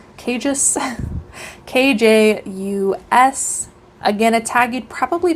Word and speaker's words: Kjus: It is, I think it's pronounced Kjus, Kjus.